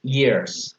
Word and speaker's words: years: Okay, 10 years ago, they were best friends. Listo, muy bien. Un tipcito de pronunciación, Jonathan. La Y en inglés no suena como la Y, suena como la I. Entonces suena years.